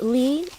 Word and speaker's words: 李: Li is easy. It sounds like Li, except in Mandarin Chinese, it is the third tone, Li. If you haven't mastered the 4 tones in Chinese yet, you'll be just fine by pronouncing it as Li.